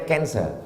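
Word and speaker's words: cancer: darah menggumpal-menggumpal menjadi kanser tulisannya c a n c e r orang barat membacanya kancer orang kita susah menyebut kancer kenapa nih kanker maka menggumpal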